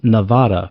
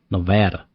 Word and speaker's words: Nevada: Nevada, which I used to pronounce as Nevada before I moved here because it is, you know, a Spanish word, but out here they don't they want to make it Nevada for some reason.